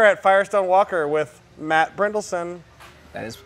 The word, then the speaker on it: Brynildson: And we are at Firestone Walker with Matt Brynildson. That is pronounced correctly.